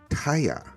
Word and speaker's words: Tahja: Today our guest is Katie Taya. That's how you pronounce it, right?